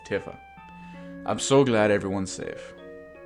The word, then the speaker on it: Tifa: order than TIF up it's not Tifa its Tiffa i'm so glad everyone's